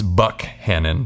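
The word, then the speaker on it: Buckhannon: the basics first it's Buck hanon pronounced with a hard k not to be confused with Buchanan a much different city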